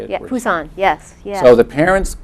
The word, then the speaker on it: Busan: Yeah, Busan, yes.